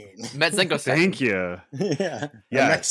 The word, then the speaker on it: Metzengerstein: Metzgersten. Metzengerstein. Thank you. Yeah. Yes. Metzengerstein.